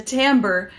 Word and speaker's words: Timbre: I'm giving you a full review of the tamber peasant top and yes it is pronounced that way by love otions stay tuned